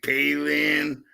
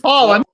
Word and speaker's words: Pahlen: So, I mean, y'all call me Palin or Palin. No, it's pollen. Like the fucking tree pollen, or like the the pollen off the fucking pollen. Pollen, but it's spelled Pahlen.